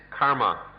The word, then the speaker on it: karma: if we we understand karma kama karma is the sanskrit pronunciation comma the pali pronunciation if we see that